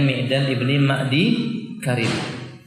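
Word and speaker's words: Miqdam ibn Ma'dikarib: Nah, begini alhamdulillah, sahabat Al-Miqdam ibni Ma'di Karib, bacanya Miqdam ibni Ma'di Karib.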